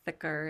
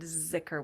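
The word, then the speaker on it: dhikr: the Arabic form of ziker or thicker is how it's said in Arabic but merid said ziker with a z because he used the Persian pronunciation saying law is saying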